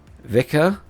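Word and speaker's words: Vikhr: And apologies, because I know I'm pronouncing Vikia wrong. I think Vika, without pronouncing the R properly, I think someone said.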